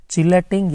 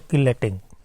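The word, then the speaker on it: chelating: चिलेटिंग या तो किलेटिंग, अलग अलग प्रोनाउंसिएशन है इसके लिए।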